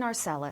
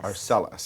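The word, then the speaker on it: Arcelus: Sebastian Arcelis. Arcelis. That is right. It's Arcelis people.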